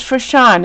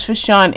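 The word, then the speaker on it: Frishaun: Aaron, her name is Fashawn. It's F-R-I-S-H-A-U-N. Let me tell you how to say her name. Her name is Fashawn, Aaron.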